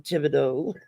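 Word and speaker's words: Thibodeaux: know if you would look at the name Tibido you would not pronounce it that way it's phonetically it looks like thibu X but yeah you know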